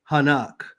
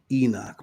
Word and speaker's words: Enoch: Matter of fact, the word Enoch is his name is actually pronounced Hanakh.